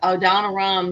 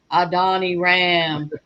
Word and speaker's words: Adoniram: and you've got all these big names out there, but, I think if we took a poll, who had ever heard of Adoniram Judson, yet God recognizes him.